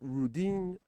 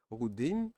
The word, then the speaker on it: Rodin: Rudin, Hunyan, Trellis, Meshi, all of them are good. My favorite now is Rudin. I think it's pronounced Rodin, but let's go with Rudin.